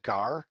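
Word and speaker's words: gaur: can't walk here's a gar right here i know it's spelled g-a-u-r but it's pronounced gar like the fish this is the largest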